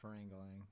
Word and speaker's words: Parangalan: it's pronounced Parangalan. Parangalang, yeah.